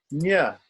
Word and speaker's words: ña: And then we have ña, like in mañana in Spanish.